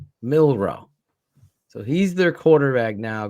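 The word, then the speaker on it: Milroe: something like that I gotta find it mil milro yeah right milro so he's their quarterback now going forward right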